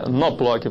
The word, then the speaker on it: Knoploch: Knoploch. Knoploch. O K é mudo.